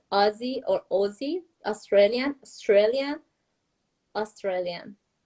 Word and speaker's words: Aussie: But yeah, Americans will often say this is weird too because Aussie, because the first syllable is now emphasized, we do say the vowel sound oh, Aussie, Yes.